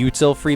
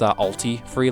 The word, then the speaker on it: Ulti Free: I called it the Util Free badge, and I love that name, but that's actually not how it's pronounced. It's Ulti Free, like Ultimate Free, and yeah, sorry.